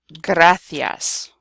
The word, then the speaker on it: gracias: G plus a consonant, it will be pronounced G. So for example, gota, which is like a drop, like a raindrop. Gato, cat. Gusto, mucho gusto. Or gracias, okay? The g, the hard g sound.